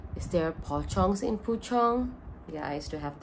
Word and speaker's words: Puchong: puchong which is spelled p-u-c-h-o-n-g oh my god i don't know the spelling but it is pronounced as puchong but this is poi